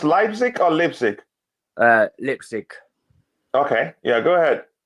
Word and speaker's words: Leipzig: Is it pronounced Leipzig or Leipzig?